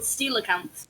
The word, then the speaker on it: coelacanths: Well, I mean, there's people who name their kid Cole, and they spell it Cole. So... Yeah, fair. Yeah, I'm pretty sure they're called coelacanths.